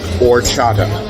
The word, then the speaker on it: horchata: for a beverage called horchata. It's spelled with an H, but it's a silent H.